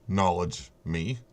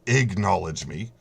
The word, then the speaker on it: acknowledge: the way he pronounced owledge me he doesn't know that it starts with an A and there's no G in the word it's acknowledge me now it's sorry Reigns